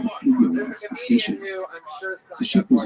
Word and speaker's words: Gjoa: Quickly, the name Gjoa is spelled G-J-O-A. I just wanted you to know that so you aren't confused when you look at the spelling. You see, it doesn't necessarily look exactly like you would expect.